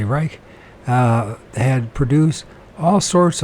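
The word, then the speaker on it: Reiche: than careful scientists uh Dr Rich or Reich depending how you PR pronounce it uh I would say Reich uh had produced all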